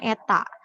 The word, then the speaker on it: eta: p p kapital ya dan efisiensi Eta itu dibacanya Eta 100% jika kuat arus pada kumparan sekunder 2